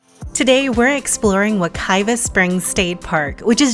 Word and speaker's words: Wekiwa: Even though you may see Wakiva spelled with either a V or W, everyone pronounces it as Wakiva, regardless of the spelling.